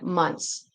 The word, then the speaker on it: months: So like months, okay, there's a consonant. There's three different consonant sounds. S, okay, the s, th and the n. When this happens, sometimes when there's three consonants, the middle one, we just won't really pronounce. Um, we can it it sounds really really really it's not easy, right? So you could pronounce the t say months, but it even for me it sounds really weird.